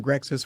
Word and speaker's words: Grexsys: and trent adkins from grexis photography uh is that the right way to say that that's correct i always was wondering like it was just brexit because there's the xys